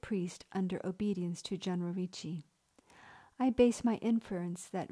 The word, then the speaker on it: Ricci: the American Republic's least known founding father, Lorenzo Ricci, pronounced Ricci.